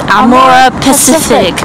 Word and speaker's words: Amorepacific: How do you pronounce this? Amorepacific.